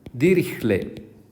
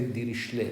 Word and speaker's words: Dirichlet: this f is called dirichlet people want some people say dirichlet but it was german so probably the correct pronunciation is dirichlet so this is the